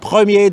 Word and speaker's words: Premier: second um you see chronograph premiere they pronounce it in french both watches are as